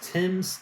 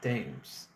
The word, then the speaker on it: Thames: And again, it's pronounced Thames, not Thames.